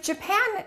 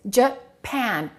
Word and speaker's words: Japan: But what happens to these a's with Japan and Brazil? The first syllable is reduced and the second syllable is stressed. So this will sound like uh and this a will sound like a.